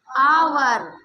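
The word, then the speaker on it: hour: एच यहां पे क्या होगा? साइलेंट होता है। क्या होता है? साइलेंट होता है। तो एच को साइलेंट करके हमारा बचता क्या? ओ यू आर मतलब आवर। क्या? आवर। आवर। लेकिन इसको कट नहीं करते। इसको लिखते जरूर हैं। राइट करेंगे बट प्रोनंसिएट नहीं करेंगे।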